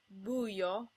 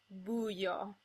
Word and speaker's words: buio: Also, in rare cases, you'll get a word like buio, where the I becomes the glide, buio.